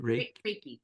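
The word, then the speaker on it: reiki: you you you said you do reiky did I say it right right raiky yeah that's a very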